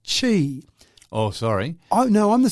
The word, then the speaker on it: Qi: Now QI is pronounced chi.